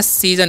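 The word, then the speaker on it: season: यहाँ पर SO का उच्चारण है ना, ज होता है, इसीलिए हम इसे पढ़ते हैं सीजन, सीजन नहीं पढ़ना, ठीक है।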